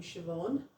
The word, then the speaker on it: Siobhan: The letter um Oh, the letter B can also be pronounced as a V. Just like we have in Irish, you have the name Siobhan.